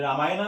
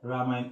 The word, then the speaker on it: रामायण: इस तरीके से यहाँ है रामायण, द रामायण, ये रामायण नहीं है, ये है रामायण, ए साइलेंट है, इसको पढ़ेंगे द रामायण।